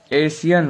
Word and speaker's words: ASEAN: इसका जो शुद्ध उच्चारण होता है वो एशियन होता है।